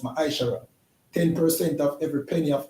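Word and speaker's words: מעשר: 21 and Malachi 3:8-10 which means tent in the Hebrew and it's pronounced mishara 10% of every penny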